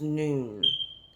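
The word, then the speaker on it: nun: 14 in the Hebrew number is pronounced noon. I learned that today. Noon. N-O-O-N, like how we pronounce noon, but I believe it's spelled N-U-N in Hebrew.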